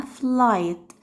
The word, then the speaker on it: flight: هما بيغيروا نطق بعض، فتاني نطق هناخده ليه لما بيجي في نص الكلمة ما بنطقهوش ولا كأني شايفاه، وشرط ان لازم يجي قبليه حرف الاي، زي كلمة flight flight جي حرف الاي قبل الجي اتش وما نطقتوش فقلتها flight.